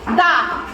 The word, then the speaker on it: the: ঠিক আছে আছে কি ডি এই ডি এইচ দেওয়া আছে তাহলে এটার উচ্চারণ কি হয়ে যাবে বলতো এইচটার উচ্চারণ কি দা তাহলে এর উচ্চারণ কি হয়ে যাবে দা